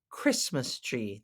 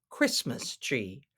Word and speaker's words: Christmas: tree yes Christmas tree it looks like Christ Mass tree but we don't pronounce it that way it's Christmas tree the tea is silent